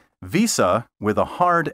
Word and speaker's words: Visa: you say Visa or Visa Visa with a hard s sound is incorrect say Visa with a soft s which sounds like a z as in visor and visible